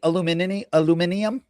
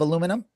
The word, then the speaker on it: aluminium: Are you gonna be mad when I say aluminium instead of aluminum? Yes, they would say aluminium, I believe, but I say it my way.